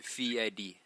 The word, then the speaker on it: Fieri: So the proper way to say it is Fiedi. Fiedi So with a D. FEE-EDDY. Fiedi. Damn, so everyone's been wrong. It's not Fieri, it's not Fiedi, it's Fiedi. All right.